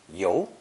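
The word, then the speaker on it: 尤: useful set phrases ten an accusatory pointing finger is the pictogram pronounced yo and is now reserved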